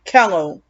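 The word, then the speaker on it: Kellough: has a son named kello spell k-e-l-l-o-u-g-h reminds i mean rhymes with hello and jell-o like hello and jell-o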